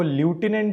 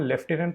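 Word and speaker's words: lieutenant: जो लेफ्टिनेंट governor है, देखिए स्पेलिंग आपको ल्यूटिनेंट दिखेगी लेकिन इसको हम लेफ्टिनेंट प्रोनाउंस करते हैं।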